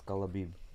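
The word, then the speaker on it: Khabib: It's not Kabib, it's Kalabib.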